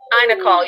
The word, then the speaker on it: iNACOL: How do you pronounce INACOL? INACOL, yeah.